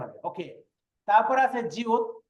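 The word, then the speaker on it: 지읒: ওকে, তারপর আছে জিউত। জিউতের এটা যদি প্রথম থাকে তাহলে উচ্চারণ হবে জ, আর যদি নিচে বসে তাহলে উচ্চারণ কি হবে? ত। ত।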